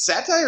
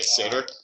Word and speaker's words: satyr: is it satire or satyr? I want someone to spell That I think the is satyr. phonetic. Okay, satyr. Okay, so it is like the Jewish meal during Passover.